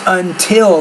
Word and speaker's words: until: I would say until, not until. It's until. The T is not a D, but a T. So you need to pronounce it like a T consonant.